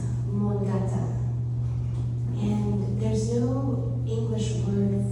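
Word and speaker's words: Mångata: It's a Swedish word, and Johanna, you can give me the right pronunciation, but it's Mongata.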